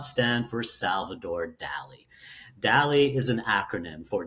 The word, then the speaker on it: DALI: DALI? You are pronouncing it right.